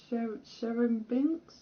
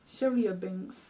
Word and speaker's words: Chelyabinsk: It's in the place I always forget the name of because it's a weird pronunciation. Hang on, I'm gonna look it up. I'm curious now. It's like Sherimbinsk? Russia? No, it's Chelyabinsk.